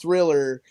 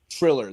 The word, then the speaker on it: Triller: That's Triller, not Thriller, Triller. There's no H in it.